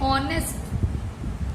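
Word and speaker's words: honest: ऐसे यूनिवर्सिटी के पहले भी ए, यूजफुल के पहले ए, ऑनेस्ट एच से स्टार्ट होता है लेकिन बोलते हैं ऑनेस्ट।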